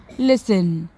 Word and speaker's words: listen: Sixth one is write any three words in which the letter T is silent. So the answer is whistle, castle and listen.